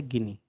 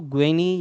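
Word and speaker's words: Guinea: English में इसको ग्वेनी या ग्वेना ऐसे पढ़ लिया जाता है। ठीक है, ध्यान रखना थोड़ा सा। अ, तो जो इसका स्पेलिंग है वो इस तरीके से ग्वेना, तो ग्वेना या गिनी हम इसको देख लेते हैं, हिंदी में गिनी ही बोलते हैं हम इसको।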